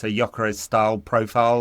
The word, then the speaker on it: Gyökeres: In Hungarian, it sounds a bit more like Gyökeres. In Swedish, there's more emphasis on the Y than the G, but yeah, it seems anyway.